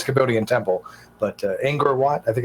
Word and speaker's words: Angkor Wat: I know it's a Cambodian temple, but Angkor Wat, I think it's pronounced. Does that make sense? Yeah, Angkor Wat.